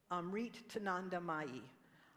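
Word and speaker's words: Amritanandamayi: Because I pronounced it last service and he said, Darlene, you said it wrong. Amrit Tananda Mai.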